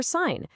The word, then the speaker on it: sign: That silent G in sign is what helps connect it to related words like signal or signature, where all of a sudden the G is pronounced.